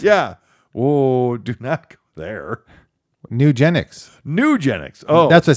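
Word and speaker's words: Nugenix: oh Duke neck there nugenics nugenics oh that's what I said nugenics not Eugenics when I see that commercial I think the same thing I'm like wait wait oh there's an N got it yeah yeah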